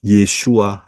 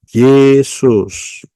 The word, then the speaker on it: Yeshua: Yod Shin Waw Ayin tidak bisa dibaca Yesus. Pahami baik-baik. Ya, tidak bisa. Jadi bacanya harus pakai Ibrani, nggak bisa pakai Indonesia.